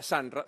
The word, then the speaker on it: Sunra: Hoy podés tener tu franquicia Sanra, se escribe Sunra, ingresando a estas opciones.